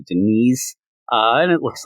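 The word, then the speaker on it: Deniz: number one written by either Dennis or Denise Camp I know that Gabe sus gab said it's definitely Denise uh and it looks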